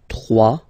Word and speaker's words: trois: Trois. Final s not pronounced. Trois.